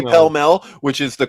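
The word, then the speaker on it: Pall Mall: if you're if I'm buying a pack of Paul mul cigarettes like I say pel Mel which is the correct pronunciation they're like what and I'm like Paul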